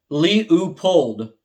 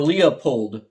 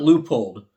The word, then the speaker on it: Leupold: mispronounce the word leupold it's pronounced lee pold or leopold not leupold i'm surprised nobody has